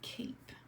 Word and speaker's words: cape: Kate a PE and just like the word face there's that silent e that makes the a say a listen a cape alright